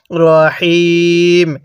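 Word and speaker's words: الرحيم: সহি শুদ্ধ হবে না তাহলে কিভাবে পড়তে হবে রাহিম হ্যাঁ আমার সাথে পড়ুন আর রহমানির রাহিম হ্যাঁ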